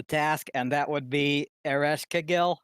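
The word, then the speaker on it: Ereshkigal: and that would be ereshkagill i'm not sure if i pronounced that correctly arresh kagal i believe is the correct pronunciation all right thank you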